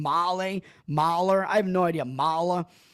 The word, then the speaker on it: Mahle: Is that how you pronounce his name? Mahler?